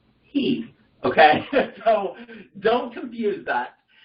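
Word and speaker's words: היא: The word for she in Hebrew is pronounced he.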